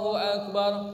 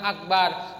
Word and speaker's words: Akbar: Tidak boleh memanjangkan ba pada kalimat akbar. Siapa yang memanjangkan ba pada kalimat akbar pada saat takbiratul ihram, maka salatnya tidak sah.